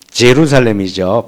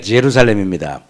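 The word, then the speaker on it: Jerusalem: 자, 여기가 예루살렘이에요. 제루살렘이죠. 발음으로. 여기가 제루살렘입니다.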